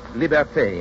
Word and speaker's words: liberté: Liberty is pronounced liberté in Haiti and Martinique. Libertad in the islands that still keep the Spanish tongue.